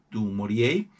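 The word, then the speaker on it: du Maurier: Eh, el apellido es francés, pero se pronuncia en inglés porque ella era británica. Ella nació y murió en un ámbito británico, así que no se suele pronunciar en francés, aunque remotamente sí es de origen francés.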